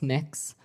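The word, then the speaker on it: Mx: Cameron tell me what your you're proposing it's pronounce mix um mix is that how you how would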